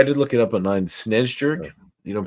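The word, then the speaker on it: Snejbjerg: that no I did look it up online SN Jer you don't pronounce the beer Peter Peter sches who uh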